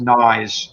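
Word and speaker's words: Gneiss: mile bridge there is g-n-e-i-s-s which is pronounced nye's creek nice creek and then i was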